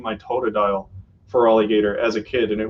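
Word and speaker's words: Feraligatr: name is you know spelled like an alligator but feral like f-e-r-a-l-i-g-a-t-r and the only important part is supposed to be that it's supposed to be er yeah but it's only an r because in the game they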